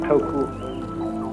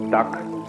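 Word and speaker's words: 德: The Japanese pronounce it toku, the Cantonese duck, and the northern Mandarins approximately de.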